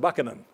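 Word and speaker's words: Buchanan: part of the question he actually pronounced it bucanan so Jame James buckin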